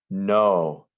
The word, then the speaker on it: know: fly yesterday i flew no we don't hear the silent k at the beginning of this word no and it has